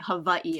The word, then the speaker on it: Hawaii: The 4 major islands include Maui, Oahu, Kauai, and Hawaii. Yeah. All right, okay. So it's actually Hawaii. Oh, sorry. I stepped on that one. It's right? Okay. But, respect the pronunciation.